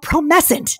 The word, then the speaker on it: Promescent: And the thing he has is called, it's called Promescent. Did I say it right? You said it exactly right. Thank God, Promescent.